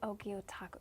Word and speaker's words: Gyotaku: You're going to tell me about Gyotaku? Am I saying that correctly, Gil? Gyotaku.